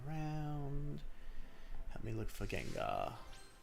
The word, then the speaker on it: Gengar: Well, actually, it's just pronounced Gengar cuz the name of the Well, Gengar's name is based off of his double Ganger, but it's just Gengar. His name is just pronounced Gengar, actually.